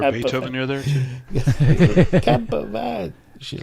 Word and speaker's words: Quimper: I've got a VW camper van in my list. When we were driving down the place in France, there's a place in Brittany called Camper, but it's spelt Quimper. It's pronounced Camper.